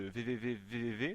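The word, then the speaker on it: VVVVVV: reviendra plus tard, vous verrez qu'il s'agit de VVV, je l'ai bien prononcé Julien?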